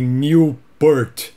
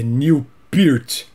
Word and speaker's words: Neil Peart: muito lynard skynard e o nome desse baterista aqui minha vida inteira eu falei millport acho que a maioria dos brasileiros também falava Newport depois do seu falecimento muitas entrevistas vieram à tona a gente descobriu a verdadeira pronúncia do nome é Neil peart um dos maiores bater